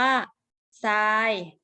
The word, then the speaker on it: ทราย: ร เรือ นะ คะ ออก เสียง ทร เป็น เสียง ซอ นะ คะ เป็น สิ่ง สอร์ ทร เป็น เสียง ซอ เช่น คำ ว่า ซาย เห็น ไหม คะ คำ นี้ เด็ก ๆ คุณ อยู่ เนาะ เขียน ว่า ทอ ทะ หาน รอ เรือ สระ อา ยอ ยัก นะ คะ แต่ ออก เสียง อ่าน ว่า ทราย นะ คะ ตัว ทร